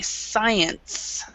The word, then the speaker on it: science: So even though you see the C here, forget it's there. It's one of the many words in English that is, many letters in English that is silent, and we don't say it.